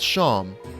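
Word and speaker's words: Seam: The name's Sham, pronounced Sham.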